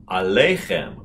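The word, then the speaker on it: עליכם: for you plural and the accent is on the second to the last syllable alechem go ahead alaikem very good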